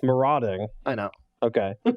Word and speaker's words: Marauding: got them are doing Raptor or as I mispronounce it quite often the Marty Raptor its marauding I know okay said them are doing Raptor